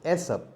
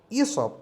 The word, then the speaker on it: Aesop: pronunciation is is of not esse many people mispronounce it as SF but the real and the correct pronunciation is e so E sub is the name of the person who first